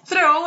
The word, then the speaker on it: throw: Então, throw é arremessar, não rima com law.